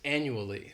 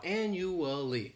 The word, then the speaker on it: annually: first adverb is annually this word has four syllables and the stress is on that first syllable the second syllable it's like you're just saying that letter U and the third syllable has that schwa annually annually and this